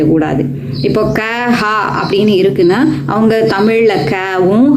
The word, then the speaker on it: कहाँ: உச்சரிச்சுட்டு இருக்கிறோம் ஹாங் மாங்கு அல்லது ஹாம் மாம் அப்படின்னு உச்சரிக்கிறோம் ஹா கஹா யஹா வஹா அப்படின்னு சொல்லாம கஹாம் யஹாம் வஹாம் அல்லது கஹாங் யஹாங் வஹாங் அப்படி எல்லாம்